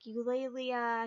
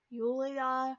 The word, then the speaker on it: Eulalia: So like Eulalia, he wasn't pronouncing right. He pronounced it like Yulia or something.